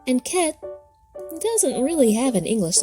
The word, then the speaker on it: Chet: Wall goes with the next letter, ket. Pronounced ka, this letter is said to be the modern equivalent of H, eta in Greek, and ket in modern Hebrew.